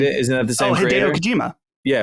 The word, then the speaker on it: Hideo Kojima: Hideo Kojima. Yeah, right. Kojima, okay.